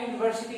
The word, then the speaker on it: university: Remember a university, ইউ উচ্চারণ হলে আমরা a লিখবো, a university. তাহলে দেখো European, ইউ, the pronunciation is ইউ.